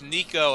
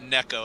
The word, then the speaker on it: neko: had the Mind shrapnel it's Nico as in cat not Neco as in Neco wafer oh so ni as